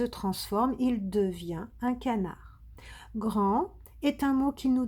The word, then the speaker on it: grand: Dire, devenir, grand, on ne prononce pas le T.